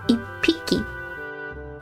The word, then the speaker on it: 一匹: Depending on the number, the pronunciation can change. なので、so 匹 is a counter for animals. Like, for one, it's 一匹. It's P-I-P, 一匹.